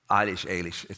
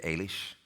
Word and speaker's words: Eilis: I mean, Brooklyn has ended with Eilish. You can use either pronunciation. Can you? Because one is more Donegal, like northern. You would say Eilish, and then in Enniscorthy, where I'm from, you'd say Eilish.